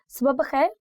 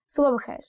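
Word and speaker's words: صبح بخیر: see, there are two pronunciations for this word. One is subha bakhair, and you can also say subha bakhair. I don't know which way sounds more natural to you, but I think it's more to do with your tongue, how you roll it. So usually I say it like subha bakhair.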